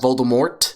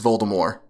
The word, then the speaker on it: Voldemort: this yeah well it's not supposed to be pronounced Voldemort it's just Voldemort really yes yeah ring actually said herself that